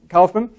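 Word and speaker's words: Kaufmann: of uh Walter cman who was actually spelled with only one F uh many times you say it with two FS but Walter uh calman German experimental physicist and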